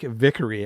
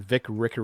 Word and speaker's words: Vickery: Vic Rick Vickery I always want to say his name Vic Ricker reach for some reason